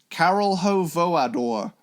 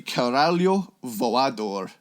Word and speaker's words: Caralho Voador: And I actually know how to say this properly, but I'm going to say my original dumb 14-year-old pronunciation of it. Carol Ho Voador. It's actually it's actually Caralho Voador. Oh. If I am correct.